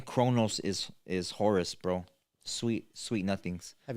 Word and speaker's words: Horus: Horus. You know, people don't even know the names like ours.